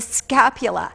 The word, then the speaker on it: scapula: bone here is the scapula and how I remembered that when I was a student is I I rhymed it with Dracula and I thought well